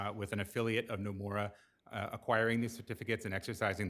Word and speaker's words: Nomura: Right, Nomura, correct, Your yeah.